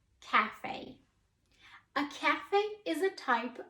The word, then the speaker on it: café: an A so the first word here is pronounced cafe cafe cafe a cafe is a type of restaurant the